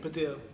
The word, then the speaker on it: Baddiel: Talking of David, how do you say it? Baddiel. Baddiel. I'm glad you've done your research.